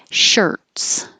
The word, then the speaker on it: shirts: And we started with shirts. So it looks like IR, sounds like ER, shirts. And shorts, looks like OR, sounds like OR.